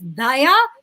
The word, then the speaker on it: Dhaya: So the actual pronunciation is Dhaya with an aspirated D, which does not exist in Tamil.